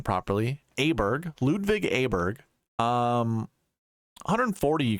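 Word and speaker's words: Åberg: found out how to say his name properly aberg Ludwig aberg um 140 you can see in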